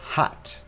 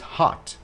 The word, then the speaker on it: hot: Vậy thì người Anh đọc là O, người Mỹ sẽ đọc là A. Hot, it's hot. Người Anh là it's hot. Người Mỹ, it's hot. It's hot. Có âm sắc gần giống như là chữ A tiếng Việt Nam.